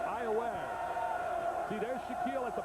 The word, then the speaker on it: Iowa: Yeah, not Iowa. It's spelled like Iowa, but it's Iowa.